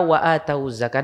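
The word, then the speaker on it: وآتوا الزكاة: Di situ ada kata wa atawuz zakah. Dan ini banyak di Al-Qur'an. Hati-hati itu. Pian membacanya nang kayak apa? Wa atawuz zakah. Wawnya itu didommahkan.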